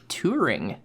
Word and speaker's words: Turing: It was Turing. Sorry, what? Turing. Like touring? Turing. Like T-O-U-R? No. Like the Grand Tour? Yes. No. Spell it out. How's it spelled? It's Turing. Okay. Like Alan Turing.